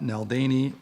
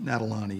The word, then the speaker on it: Nadalany: I called Office of Emergency Management Matt Neldany Nadalany Nadalany is the pronunciation.